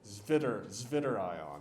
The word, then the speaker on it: Zwitterion: We call that a Zwitterion, or if you want to pronounce it like the German word that it probably comes from, Zwitterion, and then you can feel fun, I guess.